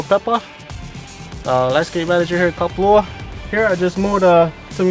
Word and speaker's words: Kapalua: I don't even know how to pronounce that. Yeah, it's Kapalua.